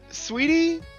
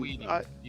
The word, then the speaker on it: Saweetie: That's how you pronounce that? Yeah. Sweetie? Saweetie? Oh, Saweetie? Dang, man. Saweetie.